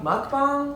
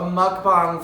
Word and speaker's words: mukbang: Mukbang? Mukbang. That's how it's pronounced, I think.